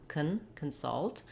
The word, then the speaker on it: consult: We do have a little short unstressed schwa, consult, but you can hear how much longer and clearer the vowel is in the salt part, and the part is has a very reduced vowel, consult.